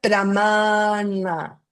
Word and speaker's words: pramāṇa: Se pronuncia pramana. Pramana. Pramana es doble a y la n pueden colocar la lengua acá arriba. Es na na na. Si se fijan en español es na. No es na na.